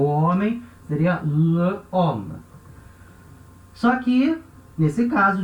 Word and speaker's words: homme: O homem seria le homme. Só que, nesse caso, de novo, o H é um H mudo, né? H muet, H mudo.